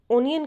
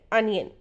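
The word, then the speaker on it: onion: प्याज, प्याज को बहुत ज़्यादा लोग ओनियन कहते हैं, वो सही है लेकिन करेक्ट प्रोनाउंसिएशन है अनियन। सो नेक्स्ट टाइम आप कहेंगे अनियन, प्याज, अनियन।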